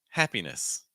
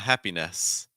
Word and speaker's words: happiness: for instance, this word, happiness. So it's not happiness, it's happiness. Compare again. Happiness, not happiness. Happiness.